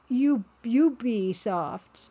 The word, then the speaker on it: Ubisoft: Ooh, Mugmancha says apparently the UB is short for ubiquitous. So it should be Ubisoft.